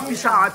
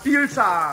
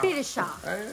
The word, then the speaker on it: Pilchard: Donc, pas Pichard, Pilchard. Pilchard. Et moi aussi, comme il fait ça. On prononce bien le L.